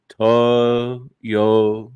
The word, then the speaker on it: Toyota: of myself and say, Tim, it's 3 syllables. Toyota.